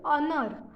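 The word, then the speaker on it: honour: हम ऑनर नहीं कहते हा ओ एन ओ यू are mains ऑनर उसके बाद हा ओ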